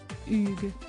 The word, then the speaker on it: Hugh: après plusieurs tentatives infructueuses ce dernier lui a finalement recommandé de le prononcer à la française Hugues si esthi parfait a-t-il